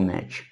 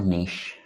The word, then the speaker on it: niche: So Al is talking about targeting people in the survival niche, or niche, the proper pronunciation.